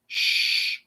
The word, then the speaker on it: shh: quieter with each other you could say like shh so just like an sh type sound like shh or you